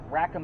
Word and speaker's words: Rackham: all of this and somebody said I just heard rack of ham Rackham is spelled Rackham a bunch of numbers